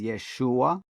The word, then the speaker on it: Yeshua: modern linguists say that the proper pronunciation of Yeshua would have been at the time almost like taking the A off. So it would sound like Yeshu, Yeshu, or Yeshu, with a little hint of the L at the end, Yeshu.